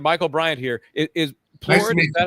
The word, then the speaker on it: Plourd: Stephen Michael Bryant here is is Plurid. Is that how is that how you pronounce your last name? Plurid. It's French.